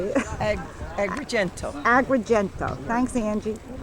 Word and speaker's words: Agrigento: Agrigento.